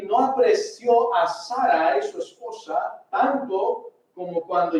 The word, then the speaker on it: Sarai: Sarai, su mujer, y no tenés Sarai, no Sarai, porque no tiene acento en la I, y no es Sarai, porque no tiene acento en la última A, y es un diptongo, es Sarai.